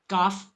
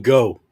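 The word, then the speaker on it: Gough: Did I pronounce it wrong? Gooff. Yeah, you were saying go.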